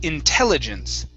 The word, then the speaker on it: intelligence: use okay good uh this word here is pronounced intelligence okay so our stress is right here intel intelligence intelligence okay